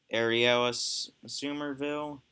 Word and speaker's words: Ariella Somerville: Sorry if I pronounced your last name wrong. Storyboard by Amanda Hurd, Zach Gearing, Ariella Somerville, yeah, that's how you say it.